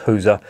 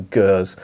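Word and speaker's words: Gueuze: I've been told it's pronounced Huza by a barman in Bruges who couldn't understand me when I was asking for Gers.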